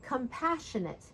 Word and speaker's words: compassionate: For example, compassionate. So the path- shion- part it's where we put the stress and it's also where we raise the pitch of our voice.